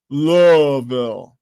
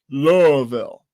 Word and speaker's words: Louisville: settlements, cities, urban areas, case in point, Louisville, even though it's named after King Louis, they pronounce it Louisville.